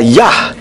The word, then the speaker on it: Yah: atau adonai cara mudahnya huruf Yod he dibaca yah contohnya di dalam Kitab